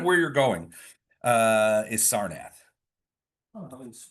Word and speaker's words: Sarnath: Um he also alerted you to a festival taking place in the city of Sarnath.